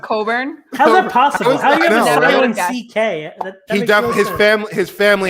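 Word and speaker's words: Cockburn: for four right there pronounce it yeah it's pronounced coburn how's it possible his family his family absolutely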